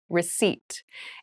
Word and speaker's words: receipt: a very interesting spelling there is a p in the spelling of this word but we do not pronounce it the pronunciation is receipt a receipt is a